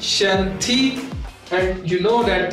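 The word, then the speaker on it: 身体: S-H in Chinese is pronounced as Sh. It becomes Shen Ti.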